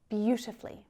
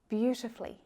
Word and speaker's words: beautifully: I'm not pronouncing that U, am I? And this is really common for native English speakers to just drop that little vowel syllable out of there. When we're using words, adverbs that are exactly like this that end in -fully, we usually drop that U.